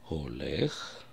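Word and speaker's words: הולך: Вот, например, я возьму слово олех. Олех. Буква хей первая, я произношу ее олех. Кому трудно произнести, можно сказать олех, проигнорировать этот звук.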